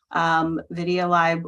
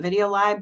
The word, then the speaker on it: VideoLib: of things, video librarianship, VideoLib was, and Gary always called it VideoLib, but I always called it VideoLib. And I think it's fine. You can pronounce it both ways.